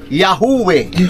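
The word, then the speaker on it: Yahweh: ng dakilang may likha ang tamang pagpronounce noon sa hebre ay yahu sabihin natin lahat yahu ang transliteration niya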